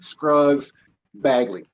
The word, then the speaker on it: Scruggs Bagley: It'll be like Scruggs Bagley.